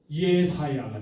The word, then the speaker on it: 이사야: 이사야서는 이게 너희라고 할 때에 이 이사야서는요 이사야만 선지자가 아니었었어요. 누구도 선지자예요? 이사야 선지자의 부인도 여선지자였어요. 여선지자. 그 이사야 이름 자체가 어떻습니까? 우리는 이제 이사야라고 하는데 히브리식 발음으로 한다라면은요 예사야가 되는 거죠.